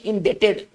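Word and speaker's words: indebted: ठीक है ना, इस वर्ड में ना बी का उच्चारण नहीं होता है ना, बी साइलेंट होता है, बी का उच्चारण हम लोग नहीं करते हैं।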